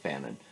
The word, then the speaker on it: Fanon: I was right about the pronunciation of Fanon, or at least I seem to be.